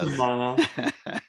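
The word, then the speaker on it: Uzomah: Usama or Uzama, yeah. Uzama.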